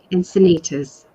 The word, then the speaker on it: Encinitas: Encinitas.